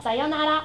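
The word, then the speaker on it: さようなら: La prossima parola è sayonara, che si pronuncia sayonara, che vuol dire addio.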